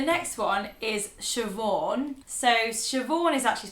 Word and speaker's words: Siobhan: So Siobhan is actually spelled like this. Siobhan.